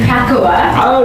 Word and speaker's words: Pakawa: All right, so we pronounce the name Pakawa. Okay. Right. Most people get it wrong. It could be pronounced various ways.